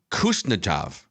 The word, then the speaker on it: Kuznetsov: I'm going to butcher this pronunciation, but it's Kuznetsov. No. Kuznetsov? K is silent, and try again.